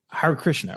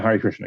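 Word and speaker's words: Hare Krishna: So it was Har Krishna right? Yeah. Hari Krishna.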